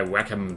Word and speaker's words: Wacom: I will drag out my Wacom tablet. And I know it's pronounced Wacom.